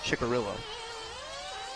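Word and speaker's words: Cicarillo: How did Paul's name, how does that come out, Chicarillo? Italian. Okay. Even though there's no H. C-I somehow Yeah. makes a chi?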